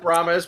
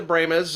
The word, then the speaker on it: Brahmas: Yes, and they're pronouncing the Brahmas. Some of us, we pronounce it Brahmas, but they call it the Brahmas.